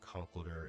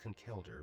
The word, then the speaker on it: Conkeldurr: Meowstic, the Rotomo, the Blastoids, big man Blastoids, the Conkeldurr, or Conkeldurr as he would say, even though it's definitely pronounced Conkeldurr, but he says Conkeldurr.